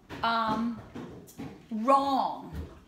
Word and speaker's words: wrong: the G n so the w boys and girls is silent like in the word wrong but the wrong way or the I can't even think so WR would be like wrong okay and then